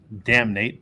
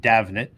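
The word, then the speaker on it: Damhnait: Canada it looks like her name should be pronounced damate but it's Irish and it's pronounced davet uh she's been around for 25 years I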